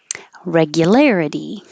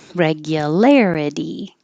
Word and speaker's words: regularity: Regularity. Regularity. Anything that ends in itty will sound like uddy.